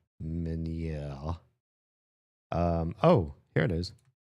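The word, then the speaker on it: Ménière: Can we um miners pronunciation? Many minier though that's the American pronunciation. Can we get like a French? This guy's obviously French. Um, French pronunciation. Minè.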